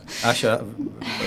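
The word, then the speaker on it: Asia: Asha, very good pronunciation. Thank you so much. So as you can probably tell, Grzegorz is Polish, so am and I. And Asha sounds also Polish. Yes, it's definitely Polish. And not many people call me that. Why are you doing it in English then? Oh, well, you know, because it's spelled A-S-I-A.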